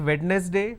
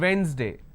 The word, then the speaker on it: Wednesday: tuesday wednesday it's not wednesday please don't say wednesday it's not wednesday it's wednesday thursday friday saturday the